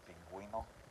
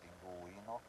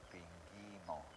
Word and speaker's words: pingüino: Same thing for pingüino, you're hearing the U sound, pingüino. Over here would just be pinguino.